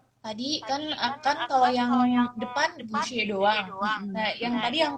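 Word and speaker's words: 不谢: Nah, terima kasih kembali kita bisa menggunakan kata xie juga, yaitu bu xie. Ya, saya ulang. Saya. Pu. Oh, oke. Ya, pada ejaan B dan U kita akan membacanya dengan pu. Bu xie.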